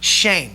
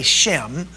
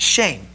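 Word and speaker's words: שם: The word the word name in English here is is is pronounced in Hebrew shame. Some of us say shm. All right? But it's actually pronounced shame.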